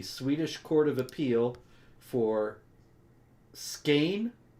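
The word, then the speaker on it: Skåne: court of appeal for skein how do you say that sweets scan no it's like it's like it's like more more skein that's how they talk That's it man so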